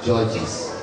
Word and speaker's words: Georges: Georges Alabi, people will come back to me and say, was that a mistake? Do you mean Georges or George? I always say his name is Georges.